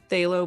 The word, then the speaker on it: phthalo: Yeah, like, isn't there a P in there somewhere? PHTHALO blue. Thalo blue. But Thalo. Thalo. Yeah, I could spell that with like 4 letters, not 7.